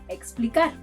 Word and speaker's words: explicar: And it may sound like an X, as in explicar, to explain.